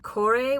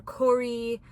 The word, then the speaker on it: Kore: spelled Kore, but like the Greeks tend to pronounce every letter. So it's like, I've heard it say like Kore or Kori, but like Kor is not it.